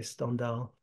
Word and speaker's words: Stendhal: The Stendhal, pronounced in the French way, Stendhal.